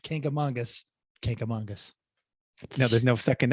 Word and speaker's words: Kancamagus: Kancamagus is the wrong way that a lot of people do say, and that's what I used to say when I was a child until my New Hampshire native relatives corrected me and said Kancamagus.